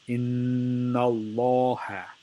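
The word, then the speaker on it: إِنَّ ٱللَّهَ: So it becomes Inna Allaha. Laha is the right way to say it. The wrong way to say it is inna Allah.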